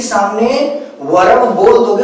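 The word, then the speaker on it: verb: इसी तरह से यहां पर आर का प्रोनाउंसिएशन नहीं किया जाता, ये वर्ब नहीं होता। वर्ब नहीं बोलते इसको, वर्ब। क्या बोलते हैं? वर्ब, ठीक। ध्यान देंगे इन सब चीजों को, बहुत ही बेसिक चीजें हैं।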